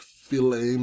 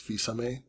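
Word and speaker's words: Fils-Aimé: of America's boss um I had no idea how to pronounce his name before E3 this year I thought it was like Flame or something but apparently it's Visa May so that's cool he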